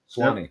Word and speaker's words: Suwanee: Am I pronouncing that right? Suwanee. Suwanee.